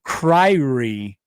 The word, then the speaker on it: Kyrie: Jason Impender writes in Jason it's pronounced Kyrie.